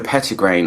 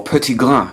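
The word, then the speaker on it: petitgrain: actually neroli at all it's the petty grain I smell the most or pretty glass if you want to nitpick and make me pronounce it properly so pretty glue is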